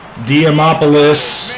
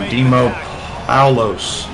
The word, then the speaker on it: Dimopoulos: Diamopoulos. Man makes the grab. I keep saying it wrong. I know I am. Dimopoulos.